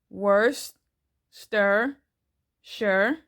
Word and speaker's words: Worcestershire: to add in some worst stir sure Worcestershire sauce I know that can be hard to pronounce that's the way that Google says to pronounce it so I'm only going